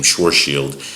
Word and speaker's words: Schwarzschild: schwartz shield who that that's that's how you pronounce his name shoreshield um he said oh what what if we